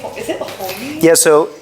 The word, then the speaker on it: Honi: the way that they pronounce a ch, the way that they spell it in English is an H with a little dot under it.